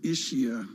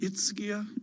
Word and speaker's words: Ischia: I said Ischia, and oh my word. Thank you to our global audience for straightening out the ugly American. Ischia, I think is how they...